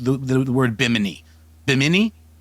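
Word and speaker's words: Bimini: Do forgive my misprononunciation there is well-intentioned but we do pronounce biminy biminy biminy correctly in our live shows.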